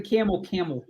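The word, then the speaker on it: Campbell: But then I've also heard people that are from Camel say that you don't pronounce the B, and you certainly don't pronounce the P.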